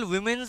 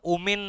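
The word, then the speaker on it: women: যে ইন্ডিয়ায় যে ন্যাশনাল উইমেন্স ডে সেলিব্রেট করা হয় কি বললাম ন্যাশনাল উইমেন্স ডে সেলিব্রেট করা হয় কথাটা ওমেন নয় কথাটা উইমেন ওমেন মানে জানো ওমেন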